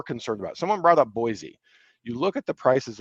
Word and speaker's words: Boise: prices so i think boise's awesome and i'm saying it wrong it's boise i think boise is awesome